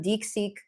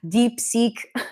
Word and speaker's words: DeepSeek: fine-tuned it with some dick seek dick seek deep seek output it's so hard to pronounce it deep seek um yeah so